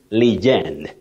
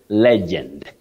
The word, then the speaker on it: legend: Betty, many people say legend, legend. I am a legend. That is not accurate. Yes. You say legend.